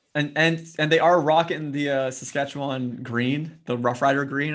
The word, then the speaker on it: Saskatchewan: Saskatchewan. There you go. It's as it's spelled.